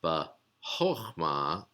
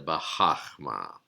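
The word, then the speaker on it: בחכמה: So it's bahochma instead of bahachma.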